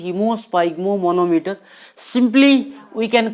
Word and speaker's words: haemosphygmomanometer: Pronunciation is hemosphygmomanometer.